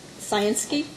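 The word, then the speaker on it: Scienski: n s k i and now to make sure I pronounce it correctly sansy right yeah thank you thank you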